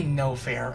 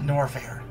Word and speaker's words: Norfair: think I know why I keep wanting to say uh no fair and not norfair because because of words like salmon that silent L is what messes me up big time with that so yeah but there's